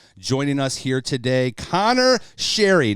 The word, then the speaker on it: Sheary: have this gentleman joining us here today Connor Sherry not pronounced sheeri as I think a lot of people say